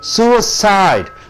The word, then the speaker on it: suicide: You are stressing on sue, being a noun. Suicide. Suicide, 3 beatings.